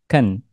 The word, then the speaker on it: can: Inggris lisan atau percakapan can biasanya tanpa tekanan dan diucapkan dengan Ken Adapun bentuk singkatan dari